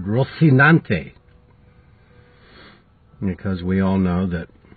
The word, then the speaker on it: Rocinante: ante or Rocinante yesterday I should have said Rocinante because we all know that in Castilian Spanish they have an eccentric pronunciation and as my father taught me many